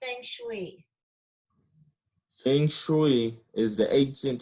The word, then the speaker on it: Feng Shui: It's pronounced Feng Shui.